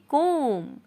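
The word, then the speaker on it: comb: कंघी करना कहलाता है कॉम ठीक है मतलब की जो बी शब्द है वो छुपा हुआ है वो साइलेंट शब्द है तो बी नहीं पढ़ा जाएगा बस आप बोले को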